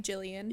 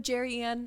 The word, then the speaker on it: Jillian: I think I usually pronounce my name quite well. Been I've been doing it for a while. and one client before she leave. She's like, you know, Jerryanne, it was so nice to meet you.